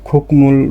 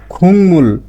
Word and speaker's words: 국물: আপনি কি জানেন কোরিয়ান ভাষায় খুকমুল লেখা হলেও কোরিয়ানরা কখনো খুকমুল বলে না? তাহলে কেন তারা খুংমুল বলে?